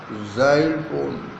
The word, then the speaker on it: xylophone: Xyl इसका pronunciation जा जा में आ की मात्रा नीचे बिंदु ई ल फो न xylophone.